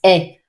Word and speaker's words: ait: The fact that it's pronounced est, just like your verb être, may be confusing.